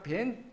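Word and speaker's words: بن: 원래는 빈가 벤이죠. 벤. 오사마 벤 발음을 정확히 말하 벤이라고 한대 오사마 벤 라덴.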